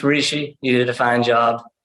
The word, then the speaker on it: Rishi: Yeah, it's Rishi.